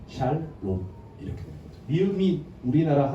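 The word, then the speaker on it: שלום: 그리고 O 발음이야. 샬롬.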